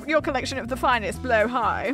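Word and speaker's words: Blåhaj: collection of the finest blow High wait that's how you say it Blow high it's Swedish it's a Swedish word blue shark and you'd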